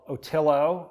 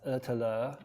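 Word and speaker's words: Ötillö: Well, in 2017 I did a race called Otillo, as the Americans would say. It's actually pronounced Otillo. It's a Swedish event.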